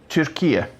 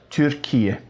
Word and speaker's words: Türkiye: So that first, the U bit, is a bit like in French, you know, like kind of, oh, tu m'as vu hier dans la rue? Bah non, je t'ai pas vu, hein. So it's not as French as that.